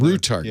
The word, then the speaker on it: RU Target: RU Target is the name of RU Target. Yeah. RU Target, RU Target. I was saying RU just because RU sounds like it might be Toys R Us or something. It sounds like a kangaroo.